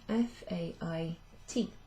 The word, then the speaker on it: fait: So it should be F-A-I-T. And that's pronounced fait.